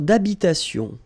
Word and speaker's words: d'habitation: Une tour d'habitation. Remember, H doesn't exist in French, well, in most of the cases. So it does mean that you don't pronounce it. All right, so d'habitation.